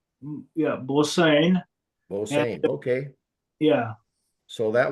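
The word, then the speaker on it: Bosaan: Okay, so pronounce what, Bosan? Yeah, Bosane.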